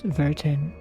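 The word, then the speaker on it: Vertin: It's not Verton, it's Verton. They actually do pronounce it properly.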